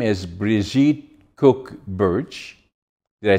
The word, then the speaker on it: Bridget: interesting and special G guest her name is briet cook Birch did I say it correctly brette both enough um people call me Bridget do you can call me bridg I don't